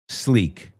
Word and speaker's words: sleek: And the second word, sleek. Slick. Sleek. Slick. Sleek. Do they sound the same? Nope. Sleek rhymes with peak. Sleek rhymes with reek.